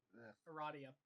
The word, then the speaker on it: Aradia: I can't remember how her name's pronounced. I am. Aradia.